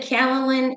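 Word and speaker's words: kaolin: I said calalin and bentonite and they got so excited.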